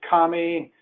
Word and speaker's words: Kamy: today my name is commie and it's pronounced like Tommy it's my real name